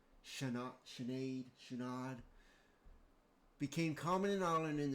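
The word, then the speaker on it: Sinéad: Notes pronounced roughly Shenad.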